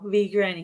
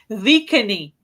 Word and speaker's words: V Granny: I know how to say it now, V Granny, because she told me that. I thought it was the reluctant Vicany, but it's the reluctant V Granny.